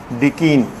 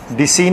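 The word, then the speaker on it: decene: डिकीन, डिसीन नहीं बोलना, डिकीन, क्योंकि आपको बताया था प्रोनाउंसिएशन इसकी डिक है, ना कि डिस।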